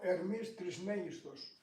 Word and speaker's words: Ερμής Τρισμέγιστος: Greek, how do you say? Is it Hermes Trismegistus? Ο Ερμής Τρισμέγιστος. Okay, English version? Trismegistus. Trismegistus, is that all right?